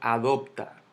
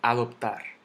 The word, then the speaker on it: adoptar: Yo no digo adoptar. Yo no digo adoptar. Yo digo adoptar, que cae en la última sílaba.